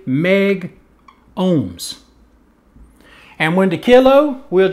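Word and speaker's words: megohms: So then they said, okay, what we'll do is we'll drop the A, and we will just say meg ohms.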